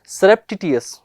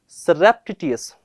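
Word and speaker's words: surreptitious: अब इसका प्रोनाउंसिएशन क्या देखें हम लोग, सेरेप्टिटियस, वापस बोले सेरेप्टिटियस, एक बार और बोले सेरेप्टिटियस।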